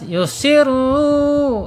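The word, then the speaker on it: يسرون: Yusirru. Yusirru ya. Dibaca tebal ya. Dibaca tebal ya. Yusirru ya. Karena harakatnya domah walaupun sebelumnya kasrah ya.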